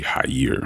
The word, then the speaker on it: Jair: The proper pronunciation for this is actually "Jahier".